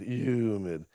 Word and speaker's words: humid: Boy, it's been humid, humid. That's a silent H pronunciation.